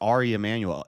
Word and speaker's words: Ari Emanuel: so it's Ari Emanuel it's pronounced it's just pronounced Ari Emanuel if when I see